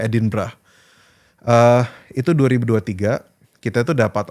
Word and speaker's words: Edinburgh: Jadi di kota namanya Edinburgh, bacanya Edinburgh.